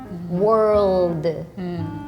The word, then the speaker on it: world: word is world yeah I think this is a little difficult because it has the r and l together so I think